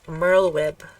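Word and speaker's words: Merlwyb: how to say the leader of the serpents Merl web oh my god I've always read that I'm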